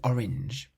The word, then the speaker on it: orange: How would you pronounce the seventh word, which means orange? Orange. Orange. So in this word, we have the vowel A, followed by an N, and then that's followed by a consonant, which produces the nasal sound, orange.